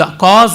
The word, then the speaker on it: cause: ಈಗ ಕಾಸ್ ಅಂತ ಅನ್ನುವಾಗ CAUSE ಅನ್ನುವ ಸ್ಪೆಲ್ಲಿಂಗಿಗೆ ಕಾ ಅಂತೀವಿ, ಅದು ಕಾ ಅಲ್ಲ, ಕ್ಯಾ ಅಲ್ಲ.